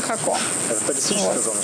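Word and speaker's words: Jacó: По-испански это называется Хако. По-английски его пытаются читать как Жако. Вот, но это Хако.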